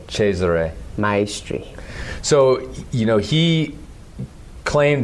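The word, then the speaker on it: Cesare Maestri: what is it well the correct pronunciation as near I can do because I don't speak Italian is cheser cheser MYRY so you know he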